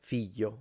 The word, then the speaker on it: figlio: In standard, it's a l. It can be difficult. Figlio, famiglia, moglie, foglia, l. That's standard. And it's commonly natively spoken like this in center north. So like Tuscany, Rome, that's how they say it. If you go south, like this speaker and me natively, we simplify it into a Y. So it becomes y, moglie, figlio, famiglia, foglia.